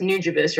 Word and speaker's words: Nujabes: you brought that up because I was it's pronounced nujabes right yes okay okay so new jeebus I wasn't familiar in the beginning but when